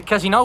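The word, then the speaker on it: casinò: So the casino here of Venice, the casino with the accent on the O, is the place for gambling, is the oldest casino, but casino without accent, paying attention because it means a courtesan house.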